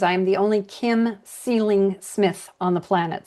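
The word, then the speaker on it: Seling: am the only Kim Ceiling Smith on the planet. So, Ceiling, pronounced like up there, but spelled like feeling with an s. So, s e l i n g.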